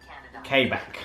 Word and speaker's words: Quebec: it correctly no sirree how do you pronounce quebec k back that's what Siri says I cannot find kbecque